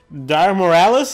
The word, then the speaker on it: Dire Miralis: This is going to be the Dire Miralis. Is that the right pronunciation of this monster?